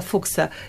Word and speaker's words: Fuchs: pyta właśnie o Klausa Fuchsa. Jak pisze się to nazwisko? Literuje Franciszek, Urszula, Celina, Hanna, Stefan. Fuchs. Tak. Fuchs. Tak, on tak się, Fuchs się pisze, czyta tak.